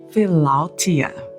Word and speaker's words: philautia: So in the Greek, it is pronounced philautia.